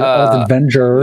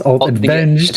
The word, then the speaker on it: Alt_Avenged: he said I said Alt Avenger. Yeah. And it's Alt Avenged.